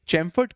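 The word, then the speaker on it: Chelmsford: देखिए आपको एक छोटा सा एक बात बता दूं, ये चैमफोर्ड के अंदर एल जो है दैट इज साइलेंट, राइट?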